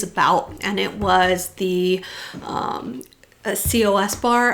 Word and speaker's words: Cos Bar: and it was the COS bar. I think they just say Cos bar. It's kind of how they pronounce it, although I never really did get that confirmed.